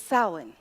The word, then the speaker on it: Samhain: And it's spelled differently than you would think it sounds, but it's Samhain.